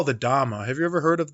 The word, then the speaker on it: Dhamma: And so they pronounced it Dhamma, Dhamma, instead of Dharma, but it's the same thing.